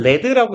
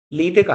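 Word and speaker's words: lead: 어 머큐리 수 그죠 레드는 나비고 얘는 레드라고 읽으셔야 되죠 리드가 아니라 큐리 수운 어 왜요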